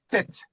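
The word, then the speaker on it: ט: Voilà, tu vois la la la 9e lettre, c'est la lettre tête. Alors, c'est la lettre c'est la lettre T.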